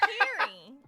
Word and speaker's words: Kari: My name's Carrie. I know it's confusing because it's spelled Kari.